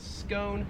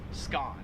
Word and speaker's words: scone: you spell it wrong so right here we pronounce that in american english as scone whereas in australian english it is pronounced skaan 39 is this car brand right here so